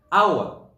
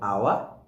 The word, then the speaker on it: hour: But this time around, the H is silent when you're pronouncing hour.